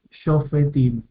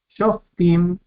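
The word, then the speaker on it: שופטים: Bien, y aquí, Shofetim, Shofetim. Yo sé que están acostumbrados a escuchar Shoftim, pero tenemos una polen, que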